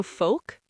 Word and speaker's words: folk: Also folk. Folk, F-O-L-K. Folk, folk music. And yolk, the yellow part of an egg. Y-O-L-K, yolk, no L.